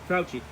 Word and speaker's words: Fauci: Fauci.